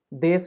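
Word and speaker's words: です: ही लिख देता हूं लिखा जाएगा देशु लेकिन लेकिन बोला जाएगा देश ठीक है देश बोला जाएगा देश अब यह क्यों जरूरी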